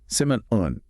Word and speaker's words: salmon: Simun. Okay, so the L is silent, just like in calm or palm.